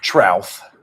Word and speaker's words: Trouth: How do you pronounce it? Trouth. Trout. Okay, I never knew that.